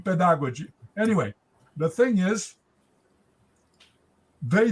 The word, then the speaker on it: pedagogy: she did not speak she did not pronounce very well pedagogy I think she was pronouncing like in the you know inter iic period with a with a German influence where the D was pronounced a t in pedagogy anyway the thing is